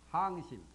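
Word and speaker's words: 降心: 주심 또는 그 다음에 항심 이 두 가지를 물었어요 발음을 항이라고 합니다 항복이라는 한자 주심법과 항진법을 묻습니다 문화란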